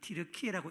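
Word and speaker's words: Türkiye: 우리는 영어식으로는 특기라고 부르는데 그 나라 사람들은 뒤르키이라고 읽는답니다 원래부터 그래서 그 나라 사람들이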